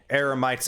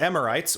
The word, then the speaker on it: eramites: of marauding eramites defeated another common mispronunciation here is actually a lot of people will pronounce eramites as amorites which i can see why